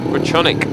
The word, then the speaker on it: Grajczonek: gate number three and Josh groshonik comes out or crochetronic we understand it is it's although it's Die Hard butronic is the way that he likes his name to be pronounced he comes out off